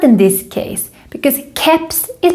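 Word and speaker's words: keps: in this case because caps is pronounced here like a k sound and this happens when we have borrow words these can break the normal pronunciation rules in swedish cups the last thing i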